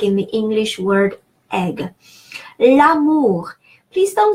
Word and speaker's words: l'amour: L'amour. Please don't say le amour. Yes, there are 2 words, the love, but it is that apostrophe is meant to make those 2 words be pronounced like one.